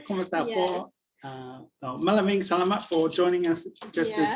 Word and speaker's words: Maraming salamat: Maraming salamat for joining us, just as Kat said. So you said it right. Maraming salamat.